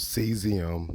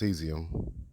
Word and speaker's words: cesium: It's called seesium. It's pronounced seesium.